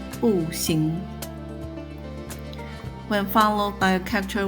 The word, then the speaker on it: 不行: Likewise, when followed by a character with the second tone, 行, the phrase is pronounced as 不行.